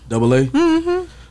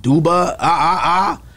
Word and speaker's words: Dubba-AA: the name come from double A so of course my name's so that's what double A but it's spelled different because when I went